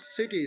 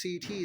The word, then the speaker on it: CT: scanning by the way it's not City scanning most of the people do pronounce it wrong type the wrong words for it it's CT scanning computer tomography CD scanning